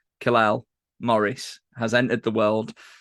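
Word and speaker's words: Kal-El: Kalal is Superman's name. Amazing. That's his. Kyle. You pronounce it Kyle.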